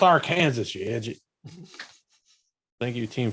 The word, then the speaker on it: Arkansas: But the first thing that the Black Tower has to overcome, pronounced Arkansas, you idiot.